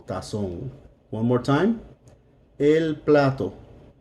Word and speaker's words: tazón: Tazón. Or notice that the accent is on the O. Tazón.